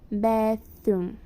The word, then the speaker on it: bathroom: A pronúncia de bathroom, ela é um pouquinho Sabe quando você vai falar thank you? Então, a pronúncia do TH é a mesma, tá? Você coloca a sua língua sobre os dois dentes superior e vai pronunciar bathroom, tá? Ela tem um som de S ou de F.